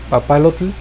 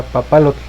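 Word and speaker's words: papalotl: está ahí presente entonces la pronunciación incorrecta sería papalote con la terminación marcada de tl y la correcta sería papalote st el diente citó que soltamos es la pronunciación correcta entonces papalote en lengua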